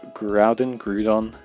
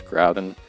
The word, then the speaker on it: Groudon: So we finally come to Groudon. I don't know how to pronounce it. I've always said it's Groudon, but hey, it's gonna depend on you.